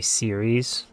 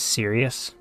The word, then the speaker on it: series: They always say serious. Like, they do it on purpose, for sure. I know it's a pronunciation thing, but it's just not how you pronounce it.